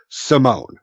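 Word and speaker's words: S1m0ne: movie he did where it's phonetically spelled out like s 1 M 0 and E is its but it's really Simone yeah I see that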